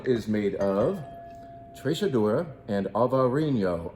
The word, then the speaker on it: Alvarinho: And this particular one is made of Trechadura and Alvarinho. Alvarinho. Jim, you're mispronouncing that.